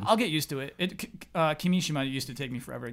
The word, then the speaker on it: Kimishima: Basically, the basic rule is yeah. equal emphasis, but that basic rule isn't always applied.